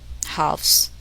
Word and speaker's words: halves: The letter L is silent in the following words. Listen and repeat each word after the speaker. Half, halves, self, cool, shoe, wool, Lincoln.